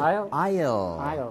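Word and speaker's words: aisle: Isle. There's no S pronunciation. Like island, no S.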